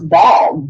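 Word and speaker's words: Baal: were talking about basically the demon that some people would pronounce ball b-a-a-l is that correct it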